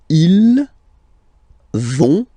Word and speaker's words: ils vont: So ils vont, final T not pronounced.